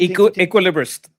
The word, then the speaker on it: equilibrist: Equilibrist, like equilibrium, but Equilibrist.